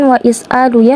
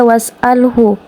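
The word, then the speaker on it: واسأله: Pergilah izhab ila mudiri eh was'alhu. Nah, bukan wais apa? Bukan wa is'alu ya. Karena di sini ada ha hamzatul wasal, maka dia tidak dibaca. Jadi dia was'alhu.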